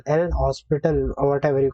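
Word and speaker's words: L'Hôpital: can apply the l h rule the aniki lopital l hospital or whatever you call it actually it is pronounced as l orbital so i i'll pronounce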